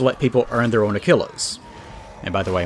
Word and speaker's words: Aquila: people earn their own achillas and by the way I might be mispronouncing that like Aquas I don't know I just pause and look at a YouTube video apparently it's Aquila it's very good very fancy